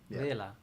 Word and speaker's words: Vela: Vela. Yes. That's how you say it in Italian.